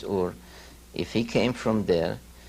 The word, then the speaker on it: Ur: I ask myself also, if Abraham, according to the Bible, came from Sumer, came from a city called Ur, or Er as many here pronounce it, but the true pronunciation is Ur.